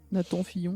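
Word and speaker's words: Nathan Fillion: mal qui était nassan Fillon si je le prononce bien c'est ça Nathan Fillon Nathan Fillon ouis euh et qui il est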